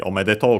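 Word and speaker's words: おめでとう: And by the way, on its own, omedeto is unaccented, so yeah.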